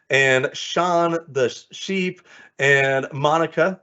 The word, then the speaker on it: Monica: And of course, we have Becky Keene, the queen, and Sean, the sheep, and Monica, like harmonica, and of course, my friend Jaritza, like barista.